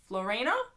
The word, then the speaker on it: Floriana: entirely sure if that's just like Chyler and Florina, that's how you say her name, or if it's Alex and Maggie.